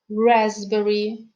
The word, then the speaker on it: raspberry: letter p is silent let's learn to pronounce some other words that have silent p so listen and repeat psychologist cupboard raspberry receipt well done now let's